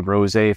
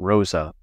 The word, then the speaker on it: Rosa: That's off of Rosé Road, and I guess there's some controversy over the pronunciation, but we've been told that the family that owned the farm there was the Rosé family, not Rosa.